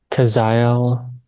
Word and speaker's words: Kazael: Once again, you may call me by the name Kaziel. That is the closest earthly pronunciation of my energy signature as a name.